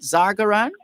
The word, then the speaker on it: Zargaran: Can we get some background, first of all, from you, Farah Zargaran, and confirm the pronunciation of your surname? Did I get that right? Zargaran?